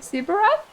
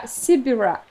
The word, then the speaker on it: Sibirak: Sibirat? I mean, you're from Siberia. But the tribe name reminds me of something. Yeah, Sibirak. She pronounced it differently, so it sounded like a Polish word.